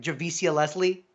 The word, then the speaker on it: Javicia: Javicia Leslie.